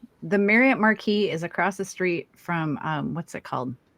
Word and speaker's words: Marquis: month on December 16th at the Marriott Marquis. Is that how to say it? Marquee. Marquee. Marquee.